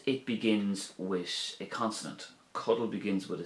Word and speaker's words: codail: a particular focus on the Irish verb cuddle, which is to sleep, cuddle. If we look at this verb, we'll see that it has two syllables and it ends in A-I-L.